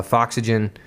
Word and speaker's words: Foxygen: very interesting music uh foxygen um like foxy gen is exactly the way it's spelled um great band great